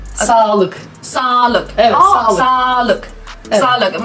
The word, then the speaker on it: sağlık: Mesela Sağlık. ama güzel söyledim. Gerçekten mi? Evet. Sağlık. Sağlık. 2 tane A gibi. Sağlık. Sağlık.